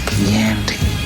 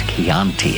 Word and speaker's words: Chianti: I ate his liver with some fava beans and a nice Chianti. The problem was he mispronounced Chianti. It's Chianti and it bothered me all the way.